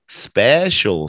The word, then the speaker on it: special: say that Angel yeah just like social special social social crucial facial Financial special is New Way English